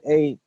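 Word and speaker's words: eight: when we pronounce it when we say 8 we don't pronounce the G the deal silence right so when you say 8 you don't pronounce it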